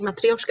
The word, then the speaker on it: Matryoshka: Matrushka. Matruska. Mat- And here it's spelled even different. It's Matrushka. Matrushka. Oh, I wish you could see my face. Oh, you said it right, Matryoshka. That's not how it's pronounced usually.